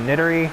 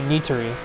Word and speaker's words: Nitori: I've heard Sayori a lot, but I usually think of it as Sayori, but I think that's because of it being Nidori, not Nitori. It's actually Nitori, but I usually just can't be bothered to change the way I pronounced it for 5 months.